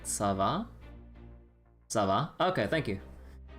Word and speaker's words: ça va: Is it like, do you pronounce that C-looking letter as like a S sound? Like ça va?